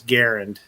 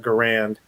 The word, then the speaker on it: Garand: spelled it phonetically and it was garend not garand so yeah i mean